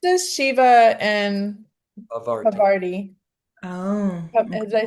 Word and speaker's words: Parvati: It's just Shiva and Parvati. Oh. Do I say it right? Parvati, yeah.